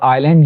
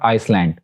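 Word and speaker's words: island: उसके बाद आइलैंड, ये हम पढ़ चुके हैं, क्योंकि एस एल से पहले साइलेंट होता है मोस्टली, तो इट्स आइलैंड नॉट आइसलैंड।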